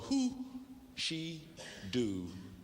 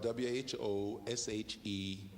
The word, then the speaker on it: Who She Do: Here's a tune called Who She Do, and that's spelled W-H-O-S-H-E-D-O.